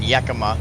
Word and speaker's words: Yakima: almost feminine huh and now we're in Yakima ya que ya que Yakima went to hacci there we go a little pronunciation lesson right there some of these